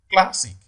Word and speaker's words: classic: all right option c classic it falls on the first syllable d partridge it falls